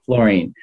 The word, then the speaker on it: Florine: Hans Florine calm although my last name is spelled Florin with an e on the end and it's pronounced like what you're standing on fluorine so Hans fluorine calm